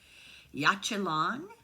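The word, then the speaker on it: Yaxchilan: Mayan city which now I'm going to really mispronounce it yachel long um y a x c h i l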